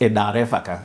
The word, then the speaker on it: Derefaka: In fact, the real pronunciation is Eda Refaka. Eda Erefaka. So Eda means my father. Ere means name. Faka means it won't finish.